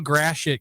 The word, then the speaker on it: Gratiot: Uh they call Grashit Gratiot here by the way.